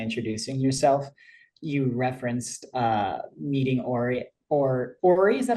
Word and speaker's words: Ori: I also love that you, earlier when you were kind of introducing yourself, you referenced meeting Ori, is that how you say it? Ori, her full name's Oriel, but she goes by Ori.